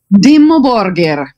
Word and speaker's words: Dimmu Borgir: to be speaking with i have trouble pronouncing it so we're going to let reina go ahead and say it today we're going to be speaking with demo borger there you go it sounds so much better and how do you